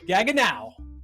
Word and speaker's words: Gaggenau: But gaga now.